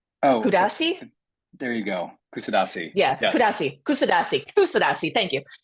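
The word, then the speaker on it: Kuşadası: Kusadasi.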